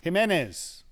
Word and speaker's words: Jimenez: Jimenez. Jimenez, but spelt with a J. It's pronounced as an H. They don't have an H in Spanish.